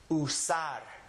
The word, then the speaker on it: usar: The name of the letter is oo. It's kind of the double O sound that we have in English. Thus, this word will be pronounced usar.